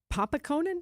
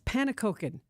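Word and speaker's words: pannenkoeken: Wait, I want to say it right because it's it's one of those good Dutch words as you would expect at Cafe Benelix. Panakoken. There you go.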